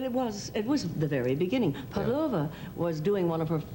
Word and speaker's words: Pavlova: incident with, was it Pavlova? Pavlova. Pavlova, you mean of course. when accent the second syllable.